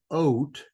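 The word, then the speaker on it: אות: this is the sign Hebrew word is oat which is a a sign it sounds like the word oath but it it doesn't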